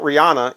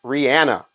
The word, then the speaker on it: Rihanna: do know that though her name is not Rihanna it's Rihanna Rihanna is her name now a lot of